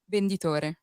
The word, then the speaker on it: venditore: Venditore.